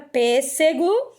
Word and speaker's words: pêssego: então se você aqui a palavra pêssego que é o que está no grupo 2 como a primeira palavra e a gente percebe que pêssego está acentuada na antepenúltima e observe todas as